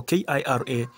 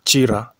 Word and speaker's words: Kira: is in Kira Town Chira town in Uganda they call it Chira I'm from Kenya so k-i-r-a I tend to pronounce it as Kira but it is Chira town and this is